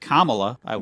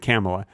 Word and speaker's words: Kamala: Here's you should probably pronounce it Kamala. No, I pronounce it Kamala. She likes it Kamala. Okay. It rhymes with camel.